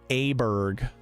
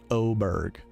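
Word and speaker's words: Åberg: cutie look him up ludvig Aber Berg but it's pronounced oberg oh I I put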